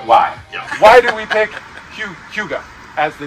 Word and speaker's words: hygge: or higgy there's actually it's pronounced as hugo hugo why why do we pick hyuga as the name it's